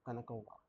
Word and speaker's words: Kanakova: And first time I pronounced it, I was like Kanakia, but no, it's not Kanakia, Kanakova. E4, C6.